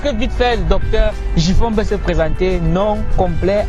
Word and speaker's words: Njifon: Déjà comment ça se prononce? Djifon.